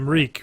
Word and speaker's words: Reek: goes he goes but reek reek it rhymes with like rhes with Meek rhymes with Meek rhymes with yeah yeah